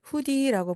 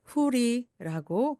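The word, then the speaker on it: hoodie: 후드가 달린 티, 후드티를 후디라고 부르는데요. 사진에서 보시는 것 같은 그러한 티입니다. 그대로 후디 또는 후리라고 D가 모음 사여와서 리을처럼 변합니다.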